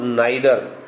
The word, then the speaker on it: neither: Bete, the word neither, I pronounce it as neither, not neither, but you can also pronounce it as neither if you have been habitual.